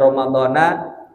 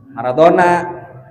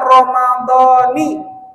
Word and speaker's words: Ramadhani: Ada Ramadhana, ada Ramadhani. Yang salah Maradona. Ini bacaan Ramadan bisa dua wajah, bisa Ramadhana, bisa Ramadhani. Tapi meskipun begini, orang alim maupun orang awam yang bacanya salah, ada Ramadhana atau Ramadhani dalam niatnya tetap sah. Biar kata salah, mau Ramadhana kayak Ramadhani. Tapi kita harus tahu ilmunya. Yang lebih utama dibaca Ramadhani.